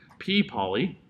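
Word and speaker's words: P/poly: P /p pulses are P poly is how it's pronounced is the Union over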